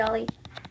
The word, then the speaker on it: Ally: Is the A like supposed to be pronounced as an O? Yeah, like all.